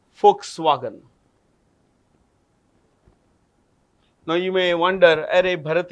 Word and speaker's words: Volkswagen: V becomes F in the German language.